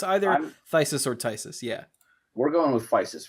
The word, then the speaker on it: Phthisis: It's PHTHISIS. Oh, Tysus. I call it Phthisis, even though I know that's wrong. I'm gonna call it Tysis for the purpose of this because the spelling is